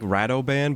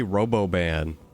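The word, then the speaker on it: Radobaan: It is like Radoban, but I always say Roboban.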